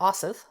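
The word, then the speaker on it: Osyth: today is the witches of Saint Joseph or asith sorry it's by Marian Gibson and it's spelled o-s-y-t-h it's a haunting story of a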